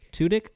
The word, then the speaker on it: Tudyk: Tudyk, murdered him, who plays Sonny.